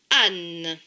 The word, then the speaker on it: âne: A, accent circonflexe ne change pas de son.